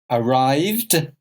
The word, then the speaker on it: arrived: What do you notice about the pronunciation? Let's look. Arrived, arrived, needed, watched.